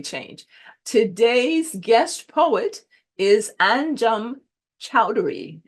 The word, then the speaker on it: Anjum Choudhary: Today's guest poet is Anjum Choudhary. And Anjum, am I saying it right? Get it right? Yes, yes, you are.